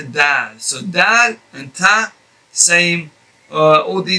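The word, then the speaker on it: ض: the difference is that to pronounce this letter ta you will have to apply a much firmer touch of the tongue against the gums behind the upper teeth whereas to pronounce it's half of the amount of the touch that or or the press that you press to say the letter ta use half of that amount or maybe a little bit less to pronounce the letter dad so same uh all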